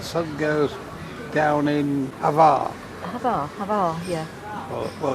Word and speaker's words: Hvar: Hvar, yeah. Well, it's spelled H-V-A-R, but it's probably pronounced Var in the local I'm not language.